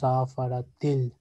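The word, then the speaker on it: سَفَرَتِ: We write safarat. But we pronounce safaratil.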